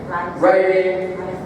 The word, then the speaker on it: writing: mention the RS Reading Writing rhythmetic so as you can see only one of these is actually R uh because the W is silent and then we say